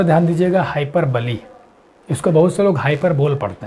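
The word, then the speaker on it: hyperbole: में कहते हैं इसको हाई पर बलि इसका उच्चारण ध्यान दीजिएगा हाइक पर बलि इसको अवसरों पर बोल पड़ते हैं क्या करते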